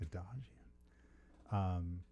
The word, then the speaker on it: Adajian: I'm pronouncing that That's correct. Adajian.